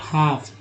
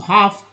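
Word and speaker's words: half: अब देखिए स्टाइरर, ईयर को बोलते हैं, आर लगा तो हो गया, eight 80 degree Celsius about हाफ, एल जो है साइलेंट है, एल जो है साइलेंट लिखा हुआ, साइलेंट है एक्चुअली, एल का उच्चारण नहीं होता है।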